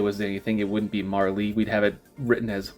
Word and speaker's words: Marle: As a kid, I obviously pronounced it Marley, that's what I thought it was. But we can figure this out by looking at the Japanese. In Japanese, her name is spelled in katakana as Maru, which kind of gives